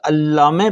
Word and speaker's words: علامه: یہ جب آپ لفظ علامه پڑھتے ہیں تو لام کے اوپر دیکھیں تشدید ہے، تو ہم اس کو تلفظ کریں گے علامه.